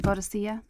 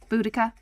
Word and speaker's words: Boadicea: Take her out of the game, I heard shouted by Claire Tomlinson, a veritable, I always pronounce this wrong, Boadicea? Boudica? It's not Boudica, Boadicea. In the saddle, as she led the English team out to the final against Boston.